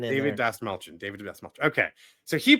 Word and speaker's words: Dastmalchian: So already, as you know on the show, we are a fan of David Dastmalchian. Dastmalchian.